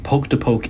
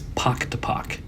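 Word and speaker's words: Pok-Ta-Pok: No poke to poke is wrong. I kept saying it wrong. It is pactopac.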